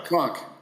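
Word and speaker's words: Kronk: Kron. Like the gym.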